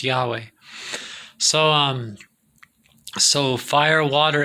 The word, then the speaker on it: Yahweh: than yahweh but mostly most scholars say it probably is pronounced yahweh so um so fire